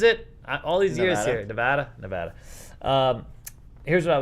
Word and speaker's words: Nevada: me what is it all these years here nevada nevada um here's what i would tell you